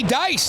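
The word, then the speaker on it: Deiss: Brody Dice, Deis S, pronounced Dice, had a goal earlier and had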